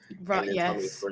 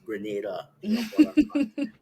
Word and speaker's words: Grenada: be called Granada so people hear Grenada and think I'm saying it wrong grada and I'm like no it's Grenada but um but then